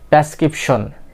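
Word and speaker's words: prescription: এখানে কি একটা আর আছে, তো আর এর পরে যেহেতু একটা ভাওয়েল লেটার আছে, সো সেহেতু অলওয়েজ এটা কি হবে? আর এর সাউন্ডটা উচ্চারণ আপনাকে কি করতে হবে? করতেই হবে। সো বন্ধুরা, এটা কি হবে?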